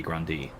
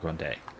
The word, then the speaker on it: Grandis: If it were pronounced in French, it would be Grandi. Grandi or Grand? Yeah, Grandi, because I-S, not Grande. The other thing I was thinking would be Grande, but that'd be E, and then E with